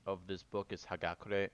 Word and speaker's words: Hagakure: that the correct pronunciation of this book is hagakure not haukar as I mispronounce throughout this recording in future recordings I